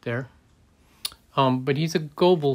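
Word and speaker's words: Goebel: um but he's a goble figure gable figure if you pronounce it in german um and it's 1982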